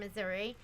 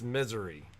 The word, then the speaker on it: Missouri: from missouri i think in misery they pronounce it misery do they really yeah i don't know misery yeah so growing up i had you guys have heard me talk about uncle rick before but uncle rick had a house in the ozarks that he loved and we visited him there and i think i pronounced it missouri and he was like no it's misery does anyone know can